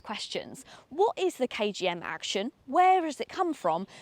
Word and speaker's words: Actyon: So, this is the KGM Action or you can pretty much pronounce it any way you wish. It's spelled Action. brand is saying to call it the action and that makes me